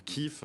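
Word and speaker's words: Kyiv: pense bien sûr à kiev qui se prononce kif en ukrainien ou kharkiv qui se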